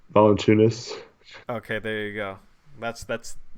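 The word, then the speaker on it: Valančiūnas: Oh man, say Valanciunas. Valanciunas.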